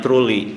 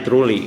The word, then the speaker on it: Troole: bawahnya itu menulis ataupun spellingnya ataupun penyebutannya trole gitu ya Eh dibacanya truly kan ee saya cari lagi ee ternyata kedetek itu bahasa Estonia dibacanya trolla Eh trolla ini artinya